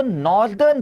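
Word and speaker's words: northern: सब नदर्न that's not नदर्न यार। हां साउथ का एडजेक्टिव सदर्न बनता है। बिल्कुल बनता है। अगर कोई चीज साउथ से है तो वो सदर्न पार्ट से है। ठीक है? बट नॉर्थ से है तो वो नॉर्दर्न पार्ट से है। नदर्न पार्ट से नहीं।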